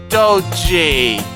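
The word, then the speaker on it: Doge: And by the way, that's pronounced Doji, like dojo, minus the second O.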